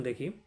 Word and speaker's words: দুঃখ: এই যে বিসর্গের কারণে বিসর্গের পরের বর্ণটি দুবার উচ্চারিত হয়।